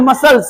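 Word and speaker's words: muscles: आगे इसको क्या पढ़ मसल्स यानी मास पेसी क्या पढ़ेंगे इसको मसल्स सी साइलेंट मसल्स क्या पढ़ेंगे मसल्स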